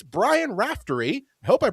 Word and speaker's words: Brian Raftery: It's Brian Raftery. I hope I pronounced your name right.